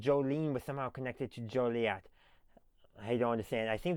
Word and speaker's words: Joliet: So, we have the J O L I E T. That's how it's spelled.